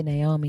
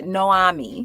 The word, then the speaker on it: Naomi: himself in front of I keep wanting to say Naomi because I'm tired. It's hard to say her name. You have to Noami. Noami, the O Naomi first. with the Yeah. A and the O switch.